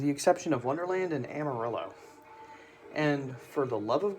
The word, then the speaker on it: Amarillo: in Texas, with the exception of Wonderland and Amarillo. And for the love of God, that is how you pronounce it correctly, so I don't want to hear anyone call it Amarillo again.